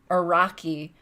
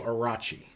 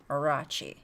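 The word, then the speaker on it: Orochi: just did yep uh when it should be pronounced soft like in cheese so arachi okay orachi i only bring it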